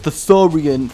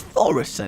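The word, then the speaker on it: Thaurissan: a fun time with thoran the thoris thoris it's thoris it just is let's earthshock this guy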